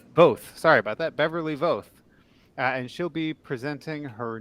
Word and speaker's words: Voth: do you say your last name is it vaf both sorry about that beverly voth and she'll be presenting her new uh json